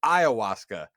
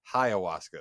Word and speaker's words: ayahuasca: It is ayahuasca, not ayahuasca.